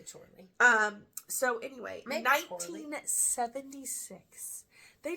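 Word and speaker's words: Chorley: sure Doug Bower and Dave chle I hope I'm pronouncing that correctly spelled like Charlie with but with an O I would say Charlie um so anyway 1976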